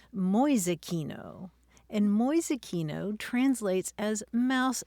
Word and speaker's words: Mäusekino: How do you spell that, Mäusekino? M-A-umlaut-U-S-E-K-I-N-O, Mäusekino. Mäusekino.